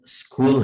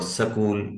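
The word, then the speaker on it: school: Important चीज है कि जो शुरू में एस साउंड है, इस पर जबर जेर पेश नहीं पढ़ना, और इससे पहले भी अलिफ की आवाज है। स्कूल भी गलत है, और सकूल या सिकूल या सुकूल ये भी गलत है। एस जो है वो यानी मजजूम होगा, उस पे हमने साकिन उसको पढ़ना है, स्कूल, स्कूल। सही है।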